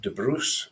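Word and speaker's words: de Brus: family in Scotland 1274 his father Robert de Bru in French pronunciation was a powerful Lord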